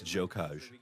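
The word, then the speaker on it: Gjokaj: That is Enver, whose last name I cannot pronounce. Barbara. We think it's Jokaj.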